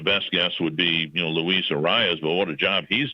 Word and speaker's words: Arias: Arias or? Arias.